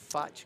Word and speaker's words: Fach: We got Fach, am I pronouncing that right? Fach Garcia?